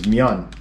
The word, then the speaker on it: myeon: This is myeon, but they put men.